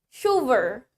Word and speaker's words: chauffeur: The next one we have chauffeur. Chauffeur. Biarpun tulisannya chauffeur, tapi dibacanya chauffeur.